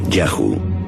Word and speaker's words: Yahu: Los textos egipcios dicen que uno de los lugares donde los Shasu vivían se llamaba YHW, probablemente pronunciado Yahu, seguramente el nombre de su dios protector.